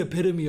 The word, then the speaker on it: epitome: Dog, you are the epitome of what she doesn't want.